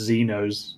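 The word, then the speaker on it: Xenos: Sam Dunn Naz is in says it's pronounced Zenos.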